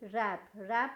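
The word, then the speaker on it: wrap: डब्लू डब्लू और जेपी रैप मतलब किसी चीज को फोल्ड करना या किसी को फोल्ड करना या फिर गिफ्ट पैक करने को कहते हैं आप यहां पर देख लीजिए डब्लू डब्लू है वह साइलेंट तो यहां पर क्या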